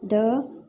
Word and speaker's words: the: दी होगा vowel sound के साथ।